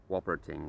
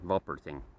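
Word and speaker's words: Wolperting: author would pronounce it since Germans pronounce that as a v it's w l p e r t i n g wering or vul pering and he's basically a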